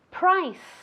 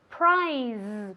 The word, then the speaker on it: price: Muy importante decir esta palabra con un sonido S, ¿vale? Price. Nunca prize, porque eso es premio, ¿vale? Entonces mucho cuidado. Price, con una S española, ¿vale?